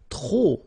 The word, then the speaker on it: trop: If you want to use trop, and trop means too many, okay? Then you will have to put de and the noun without the article, okay? Remember, too many, trop, don't pronounce the final P.